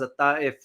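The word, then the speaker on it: الطائف: The Taif, pronounced in Arabic as a Taif, agreement with parts of Lebanon left in ruins.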